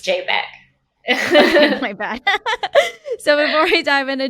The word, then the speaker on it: JPG: which by the way is you is it pronounced jpg or jpeg it's jpeg so before we dive into jpeg i probably